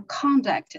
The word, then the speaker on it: conduct: should pay attention to it should be pronounced sexual conduct not sexual conduct conduct because here yeah here is a norm not a verb yeah thank you yeah